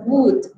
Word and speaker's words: would: Recordemos que la pronunciación de esa palabra es would. Esa L no suena, okay? This L doesn't sound at all.